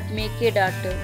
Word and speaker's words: Mekedatu: But there is a place called Mekedatu which is around 4 kilometers away on the other side of the river.